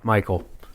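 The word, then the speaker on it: Mychal: hi hi I'm Michael it's actually Michael how do you spell that you have an unusual spelling for your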